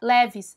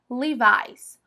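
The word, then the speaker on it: Levi's: marca de roupas principalmente de calças jeans a leves sabe a gente fala leves né aqui mas lá fora é Levis levis se você for num outlet ou você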